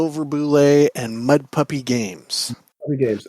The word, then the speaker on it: Bulette: It is Bulette, and at North Texas, I've yelled to people